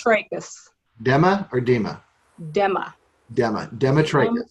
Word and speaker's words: Demetrakis: It's Demetrakis. Okay, say it one more time. Demetrakis? Demetrakis. Dema or Dema? Dema. Demetrakis. Demetrakis, yes.